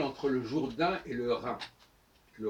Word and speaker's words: Rhin: Alors ce qui est intéressant en passant, c'est qu'on écrit Rhin R-H-I-N et Rhône R-H-O, accent circonflexe N-E, mais on ne prononce pas différemment qu'il y a un H ou pas dans le R.